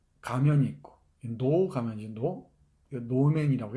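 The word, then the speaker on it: 能: 노 가면이지, 노맨이라고 해, 노맨. 일본의 그 인형, 그 가면극이죠. 가면극인 이 노라고 하는 게 있고, 이 한자, 이 한 글자로 써요. 노라고, 이 능자 있지? 이 능자를 하면은, 이 능자가 노라고 읽혀요. 노.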